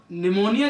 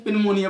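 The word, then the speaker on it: pneumonia: जब निमोनिया जो होता है, इसको मोस्टली स्टूडेंट्स पिनमोनिया पढ़ते हैं, पी साइलेंट रहता है।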